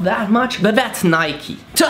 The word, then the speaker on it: Nike: No, not Nike, you pronounce it Nike.